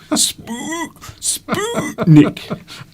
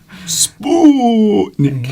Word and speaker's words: Sputnik: See, now you're overpronouncing the U. Sputnik. Sputnik.